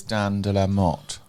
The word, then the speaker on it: Dan de la Motte: Our lovely guest this week is Dan de la Motte.